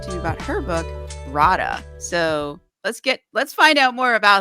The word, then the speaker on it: Rada: It's Rada. You're the It only is you're the Rada. only American I've heard say it correctly. So well done. Yes. Yes. Definitely Rada. Another Slavic type name.